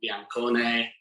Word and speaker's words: Biancone: of dean henderson wayne hennessey musa niakarte julian biancone that's how you say it uh nico williams